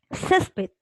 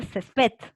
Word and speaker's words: césped: diferente a n vocal por ejemplo césped césped es una palabra grave ya le ha identificado la fuerza de voz está aquí en cesc porque turistas respecto dice césped entonces obviamente es una grave fuerza de voz en la penúltima ahora conoces ya he